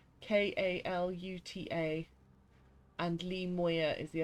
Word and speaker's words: Kaluta: No, not as in the coffee drink. Although it is spelt with a K. I'm just looking to my comic book shelf to see where it is. It's Kaluta. Kaluta.